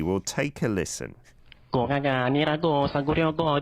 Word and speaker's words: 고가가: Yeah, but the trick here is that you need to pronounce the second one as the double consonant. So you say 고가가.